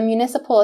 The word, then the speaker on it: municipal: Keep in mind we have the mu, the u sound like in cute, mu.